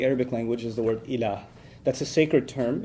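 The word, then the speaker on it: ilaah: La ilaha illallah, in which there's the term ilah.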